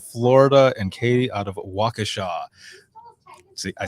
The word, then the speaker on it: Waukesha: fuzz out of florida and katie out of waukesha see i said it right make sure to